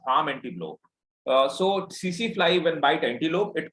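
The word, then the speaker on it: tsetse: The name of that fly is CC fly. We write it TC fly, but T is silent.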